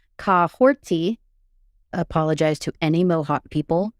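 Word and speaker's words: Kahhori: So her pronunciation of her name, while it's spelled Kahori, it's actually Kahorti.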